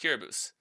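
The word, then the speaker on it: Kiribati: think I think he scores today it's like kabus right so K kbus is is spelled k i r i b a t i the country kbus but it's pronounced kbus so a lot of people don't actually know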